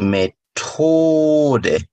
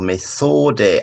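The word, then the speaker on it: Methode: TH가 나올 때마다 우리가 T 좀 강하게 발음시켜야 돼. 예를 들어, 약국, 아포테케, 방법, 디 메토데, 알죠? 메소데, 아포테케 말고, 아포테케, 디 아포테케, 디 메토데.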